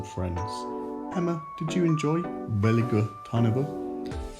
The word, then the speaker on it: Veliko Tarnovo: Veliko Tarnovo.